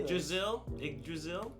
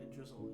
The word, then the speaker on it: Yggdrasil: Yggdrasil. Yggdrasil. That's the tree. Yggdrasil. Yeah. Yggdrasil. I'm gonna go Yggdrasil.